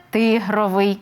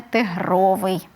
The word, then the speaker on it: тигровий: що він зручний є у нас слово ринок то і економіка у нас буде ринкова а не ринкова чи ринкова як ми деколи можемо в медіа почути є у нас іменник тигр то він і буде тигровий Принт наприла приклад а не тигровий Дякую Ксеня останнє питання